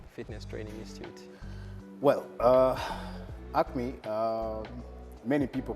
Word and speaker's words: Acme: so Patrick will be telling us about umcme Acme Acme oh sorry I thought it's like okay so can you please tell us about acne Fitness training institute well uh Acme many people pronounce it like yeah you have